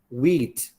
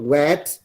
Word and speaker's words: wheat: india right listen listen the pronunciation is wheat it's not wet it is not wet it is wheat so number 21 the answer is read read wheat excellent wheat 22.